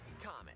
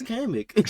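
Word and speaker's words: Kamek: I don't comic. I'm saying kamic. Is it comic? No, it's not. It's kamic.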